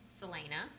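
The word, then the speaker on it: Celaena: Different stories that the main female character, Selena. Yes. Did I say it right? Yes. Selena. Yes. Selena, yeah.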